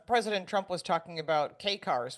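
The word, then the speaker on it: kei car: It's interesting because President Trump was talking about K cars, which is spelled KEI, not the letter K, or Chrysler K cars.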